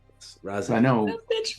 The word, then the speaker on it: Raziel: Spell that out. All right. So not Raphael, but Raziel. Raziel.